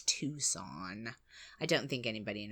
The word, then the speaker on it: Tucson: it's it's a bit weird but yeah it's tucon I don't think anybody in America mispronounces that oh no no Tusa like tuscal Losa no Tusk on um uh